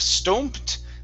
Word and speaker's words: stomped: Okay, instead of stomped, this is an a sound.